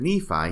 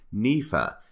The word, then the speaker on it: Nephi: name in this statement instead of Nephi he says nifa it is almost as